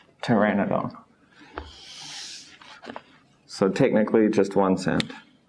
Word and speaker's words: Pteranodon: like a blank and in some cases though it becomes just a t sound the P becomes silent as in the dinosaur Pteranodon or pterodactyl I always preferred Pteranodon though so we dropped the P Pteranodon so technically just